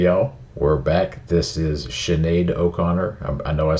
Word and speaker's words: Sinead O'Connor: hey yo we're back this is Sinead O'Connor I know I said it right that time